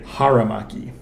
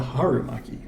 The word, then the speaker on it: haramaki: What Zoro wears, it's called a haramaki. Not a harumaki. Haramaki. Oh, so it's an A, not a U.